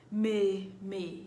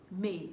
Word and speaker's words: mais: May means but. May, M-A-I-S. The S is silent.